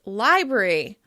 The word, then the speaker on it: library: You've probably also noticed that "library" is commonly pronounced "libry" with just one /r/ sound: "libry, libry."